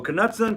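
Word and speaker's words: Knudsen: So, Kudson, Kudson, Kudson, I think is the how you pronounce it right. That's the head of I believe that the K is silent, but I never knew the man.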